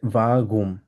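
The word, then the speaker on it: warum: এরপর আসি হচ্ছে ভাগুম। এখানে আর্টটা যেটা আছে, এই আর্টটা অনেকটা গলা থেকে আসবে আমাদের, আমরা বলবো হচ্ছে ভা গুম, একদম গলা থেকে আসবে।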